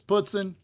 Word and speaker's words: poutine: the puts in fries poutine definitely tell me in below if you're from the Northeast how you pronounce it cuz I'm definitely interested but the waitress said it was puton so I'm going to